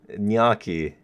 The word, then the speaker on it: gnocchi: Oh, the G is silent. Gnocchi.